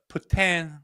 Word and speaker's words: poutine: Mine would be poutine, I think. Poutine. Oh, and you threw a little caveat on. Man, you're hot this morning. You threw a little poutine.